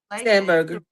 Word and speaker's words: Spanberger: the governor, the new governor, um Abigail uh Spanberger, is that how you say her name? Signed Yes. Spanberger.